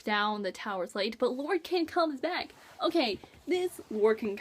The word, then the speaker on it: Lorcan: Of course, Lorcan, that's how you say his name.